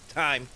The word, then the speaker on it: thyme: Time. Alright. The age Yeah. is silent.